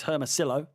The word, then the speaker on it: Hermosillo: So Michael Hermosillo, hope I pronounced that right. Unless you're pronounced like armadillo. So it's Hermosillo.